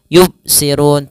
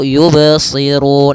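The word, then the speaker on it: يُبْصِرُونَ: memantul Kemudian pada alfalba Jangan dibaca yubsirun tidak ada pantulannya atau di yang kedua tidak boleh dibaca dengan adanya Hamzah misalnya yubsirun nah ini keduanya kurang tepat akan tetapi kita baca Bagaimana cara baca yang betul yaitu yubsirun langsung saja yubsirun maka faanna yubsirun kemudian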